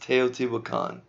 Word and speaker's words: Teotihuacan: and at the very end here this is pronounced Teotihuacan so here you can kind of see the